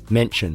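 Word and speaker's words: München: at the moment or as I used to say when I was learning German at school mention is that how you say it that's how they say it there m u n c h e n mention munion M mention it's got an out on the U that's annoying I'm so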